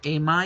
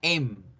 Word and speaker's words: am: ¿Am I okay? Que por cierto, ojo la pronunciación. Aquí la palabra am no se pronuncia am, se pronuncia em.